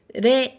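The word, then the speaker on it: れい: Rei, ten, go. Donc ça, c'est les situations dans lesquelles tu vas croiser la prononciation rei.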